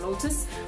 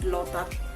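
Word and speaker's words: โลตัส: but for them it is called lotat. So if you go around asking for lotus, maybe no one will understand where that place is unless you say lotat.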